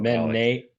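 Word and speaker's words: μένει: So hold on, mene is present or past? Yes. Mene with the accent on the first syllable is present active indicative third singular. Okay. But menes accent, circumflex accent on the second syllable.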